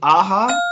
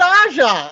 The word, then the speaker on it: Aja: writer most of the art was by david aha really that's how you pronounce his name i never knew i thought it was david aja like i'm i feel bad now well he's